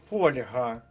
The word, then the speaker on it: фольга: детальніше з такими словами і ось не просте для нашо вимови слово фольга загорнутий у фольгу фольга для випічки Хто не знав записав